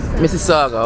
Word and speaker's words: Mississauga: How you pronounce? Where are we now? Mississauga.